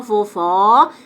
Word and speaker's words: vovó: som vovó e vovô aqui você abre a boca ó vovó que você fecha a